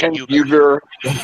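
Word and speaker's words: Uygur: Uyghur.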